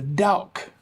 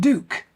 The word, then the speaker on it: Douk: The Douk, or is it Douk? I've heard it pronounced both different ways.